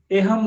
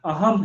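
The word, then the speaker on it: अहम्: हाँ, तो ए नहीं इसको बोलेंगे, आ बोलेंगे। ठीक है, ये गलत प्रोनाउंसिएशन है। एहम नहीं है, अहम है, आ है।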